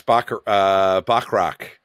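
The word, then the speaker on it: Moss-Bachrach: And then Eben Moss Bachrach. Is that how you pronounce his name?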